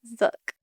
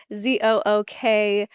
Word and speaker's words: Zook: And so that's how they would pronounce it in the Swartzentruber, Zook. But English people say Zook. So we're going with Zook because that's the right way.